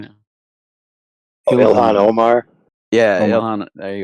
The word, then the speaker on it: Ilhan Omar: The one that's in deep trouble right now, Alana, or how do you say her name? The one that married her cousin. She's in government right now. Oh, Ilhan Omar.